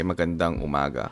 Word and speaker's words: magandang umaga: Maganda means beautiful or good. Maganda. And then you add NG. That's why we say magandang umaga.